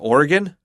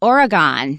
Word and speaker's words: Oregon: is that state right south of Washington uh Oregon you sound like a native how do you say it the way we mostly say it in the midwest is Oregon Oregon oh yeah or Oregon I I Oregon